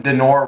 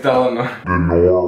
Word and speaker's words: Delano: Was it Thomas Jefferson, Benjamin Franklin, George Washington, or Franklin Delano Roosevelt? I think I mispronounced that middle name. It's Delano.